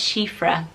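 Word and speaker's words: Síofra: kind of fairy or change link and that's she freh and it sounds very girl power it's a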